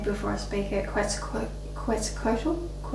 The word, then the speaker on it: Quetzalcoatl: Quetzalcoatl. They kind of like told me like drop the Q but keep the sound like Quetzalcoatl. It's not Quetz, it's Quetzalcoatl.